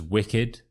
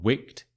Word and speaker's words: wicked: such as such as wicked for example it's not Wicked it's wicked but with these verbs